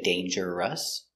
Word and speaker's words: dangerous: buy very good dangerous looks like dangerous but we don't say dangerous we make it with two syllables dangerous dangerous dangerous is an adjective dangerous I think motorcycles are dangerous you could die if you have an accident you could die motorcycles are very dangerous pronunciation dangerous d a long a day n Dane J D danger d danger uh danger danger dangerous dangerous two syllables stress on a first syllable dangerous dangerous I